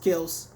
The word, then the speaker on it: Kelce: Now, I know Travis Kelce, or how they pronounce it, or the appropriate pronunciation, Travis Kelce, has some back soreness, some stiffness, so he's not really practicing right now, but he'll be ready for week 1.